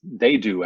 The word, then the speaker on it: Dadu: Dadu, and that's Dadu actually is how that's pronounced. And that's all it says in this little information description.